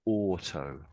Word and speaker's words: auto: or or is that it sounds like you're just saying the O almost.